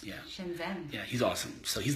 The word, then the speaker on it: Shenzhen: Shenzhen. Is that how you pronounce? Yeah. Shenzhen.